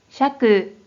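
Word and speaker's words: 釈: 경우에는 뜻으로는 발음이 없고 음으로만 샤크 샤크라고 발음해줘요 그럼 대표적인 음력으로부터 소개해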